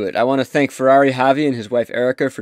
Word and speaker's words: Ferrari Xavi: Am I saying it right? Ferrari Xavi. Yep. Ferrari Xavi. That's right.